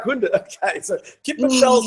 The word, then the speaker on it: kippenvel: Kippenvel. What is it? Kippenvel. Kippenvel. I love that. Kippenvel, when your skin. Vel is skin, and kippen, what is kippen? Chicken.